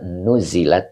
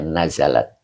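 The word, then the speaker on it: نَزَلَت: Nah, jadi ee boleh di dibaca nuzilat juga boleh. Iya diturunkan pakai tasdid tapi ya nuzzilat ya. Tapi kita sepakat bacanya nazalat iya turun.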